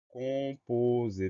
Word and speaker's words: composé: Première syllabe con, C-O-M. Pourquoi un M dans le son on? Parce que derrière, on trouve un P. C'est la règle du M devant MPP. Donc, con, C-O-M. Ensuite, posé, po, P-O-Z, S-E-R. Le son Z s'écrit avec un S puisqu'il est cerné par deux voyelles.